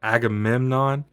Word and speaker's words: Agamemnon: But Agamemnon I said it right that time.